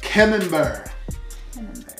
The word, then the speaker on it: Camembert: All right, next we got the, how do you pronounce that again? Camembert.